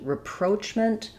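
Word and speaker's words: rapprochement: Um, in English reproachment second syllable stress. So because it's stressed on the second syllable letters r a are going to be a reduced schwa vowel. So repro. And then here ch is gonna actually say the ch sound ch.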